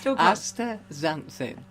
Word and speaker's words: astaxanthin: with and that's facts astaxanthin it's because it's spelled with an x but you pronounce it as a z z so yeah okay